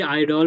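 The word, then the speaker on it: idol: बार repeat करते हैं यदि किसी वर्ड के शुरू में आई आता है तो उस आई को आई ही प्रोनाउंस किया जाता है है आइए कुछ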